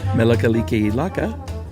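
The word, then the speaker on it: Mele Kalikimaka: Melakaliki Laka, that's pronounced?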